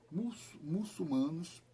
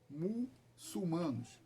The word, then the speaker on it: muçulmano: Os turcos otomanos, ou os muçulmanos, não é muçulmano, cuidado, o L fica depois do CU, muçulmanos, né? Muita gente erra essa pronúncia.